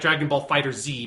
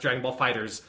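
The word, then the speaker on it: Dragon Ball FighterZ: proper way to say it looks like Dragon Ball fighter Z but is supposed to be pronounced Dragon Ball Fighters and it is a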